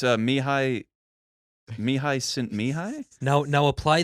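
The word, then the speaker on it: Mihály: very difficult is it me how do you pronounce the first name because that'll help me out with the last mihai mihai yeah the hill oh okay so the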